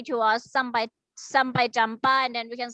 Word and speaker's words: jumpa: Please pronounce sampai jumpa. Talalang. Sampai jumpa. Sampai jumpa. Jumpa. Jumpa. Okay, sampai jumpa. What about Vivian? Sampai jumpa. Very good. Not jumpa, jumpa, ya.